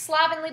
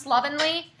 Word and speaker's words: slovenly: and the last one it looks like it's slovenly but it's pronounced slovenly and it means sloppy so if your appearance